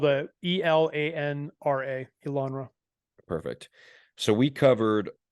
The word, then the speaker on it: Elanra: in the show notes as well yes so it's spelled the e-l-a-n-r-a elanra perfect so we covered almost every single